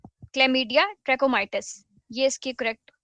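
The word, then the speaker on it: Chlamydia trachomatis: तो वो है क्लमडिया, ट्रैकोमाइटिस। यह इसकी करेक्ट प्रोनाउंसिएशन है और यह गंदगी की वजह से फैलते हैं।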